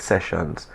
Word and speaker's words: Seshuns: Just message us on Instagram, DM us at Sunrise Seshuns. And as you could see on the screen here, it's spelt how it sounds. So it's Sunrise, SESHUNS.